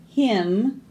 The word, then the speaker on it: hymn: N is for naughty children who will sing a solemn hymn when autumn comes to an end. All of these N's we didn't say, did we? They were all silent.